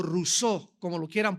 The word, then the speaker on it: Rousseau: mundo llamado Jean Ja rosau rosau o o rousseau como lo quieran pronunciar en francés Jean Ja rousseau este hombre nació en Suiza y surgió dentro